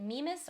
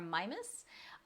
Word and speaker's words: Mimas: People pronounced it Mimas or Mimas.